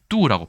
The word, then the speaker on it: 妬: 질투할 때 투를 중에서는 뚜라고 읽어요. 비슷하죠?